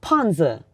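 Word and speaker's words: 胖子: Like panzi.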